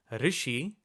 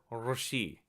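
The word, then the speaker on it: ऋषि: ru, It's a vowel, it's a retroflex vowel, and it's believed that it may be pronounced as r, Rishi.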